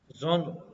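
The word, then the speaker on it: genre: अच्छा, इसको पता नहीं हम लोग तो क्या क्या पढ़ते हैं, पर इसकी जो सही प्रोनाउंसिएशन होती है वो जोना होती है, जोनरे, जॉन, पता नहीं क्या पढ़ते हैं यार, हैं, जॉनरा, नहीं जॉनरा नहीं है।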